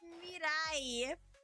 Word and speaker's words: Miraii: It's Miraii.